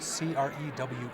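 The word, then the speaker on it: Crewe: And it's spelled C R E W E. C R E W E crew.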